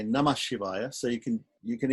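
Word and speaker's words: नमः शिवाय: Shivaya so namaha Shivaya people don't say namaha Shivaya they they say namah Shivaya so you can you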